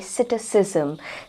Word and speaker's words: psittacism: word of द डे सिटिस जम seat सिस्म इसे इस तरह से प्रोनाउंस किया जाता है सिटस जम का अर्थ